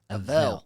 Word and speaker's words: Avel: A a veil.